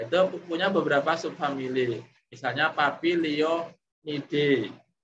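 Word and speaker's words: Papilionoideae: Misalnya Papilio, Nide, ada akhiran Oidae, cara membacanya Oide, Papilionide, itu berarti subfamily yang buahnya itu berbentuk polong.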